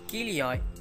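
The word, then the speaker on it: χίλιοι: The story begins with Kilioi, which is a Greek word for thousand. This is pronounced as Kilio, but with the changing times, people started pronouncing it as Kilo.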